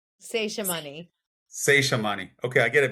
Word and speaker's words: Seshamani: Am I pronouncing that correctly? Seshamani.